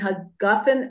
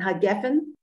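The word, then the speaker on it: הגפן: Is there a difference between hagafen and hageffen? Oh, well, I think the Sephardic and Ashkenazic pronounce it differently, if I'm not mistaken. I think Sephardic people pronounce it Berpri hageffen.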